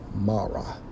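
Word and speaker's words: מרה: Hebrew chromes age 4755 pronounced as Mara which means bitterness okay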